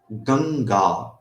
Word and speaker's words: Ganga: For example, if I say Ganga, so here Gang is one akshara, Ga is another akshara. So it has to be pronounced in one go.